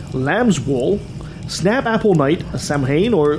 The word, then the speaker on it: Samhain: Ha Halloween has been called All Hallows Eve, like Nancy said, Witch's Night, Lamb's Wool, Snap Apple Night, Samhain, or how did you pronounce it? Sow-in.